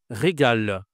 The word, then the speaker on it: régal: Bon, donc régal, oui, je dois prononcer le L, bien sûr, évidemment.